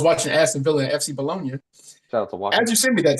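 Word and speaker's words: Bologna: Aston Villa and uh how they bolog FC bolognia is is how they pronounce it yep that's exactly yep yeah uh I was watching ason Villa in FC bolognia as you sent me that text I turned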